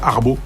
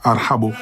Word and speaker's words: Arhbo: En France, ils me demandent qu'est-ce que ça veut dire, ils n'arrivent pas à prononcer, ils disent arbo, arbo. Arbo parce que c'est difficile pour un Français de dire arhabo.